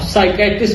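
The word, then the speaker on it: psychiatrist: अब साइकेट्रिस्ट और psychology P से स्टार्ट होता है, पर पी यहाँ पे साइलेंट होता है।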